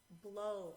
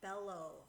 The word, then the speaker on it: bellow: tricked on this one most people say below it is not below below is spelled with one L so this word is Bellow 11 so if you chop that off chop off the rule 11 you know that word is Bell so you say it like that Bell o 11 Bell 11